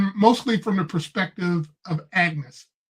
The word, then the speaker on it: Agnes: from the perspective of Agnes, or Agnes. They pronounce it differently.